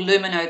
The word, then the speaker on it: Lumino: That's called Lumino the Dentists. Spell that.